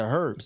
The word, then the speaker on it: herbs: And one went out into the field to gather herbs. Gather herbs. That H is silent, y'all.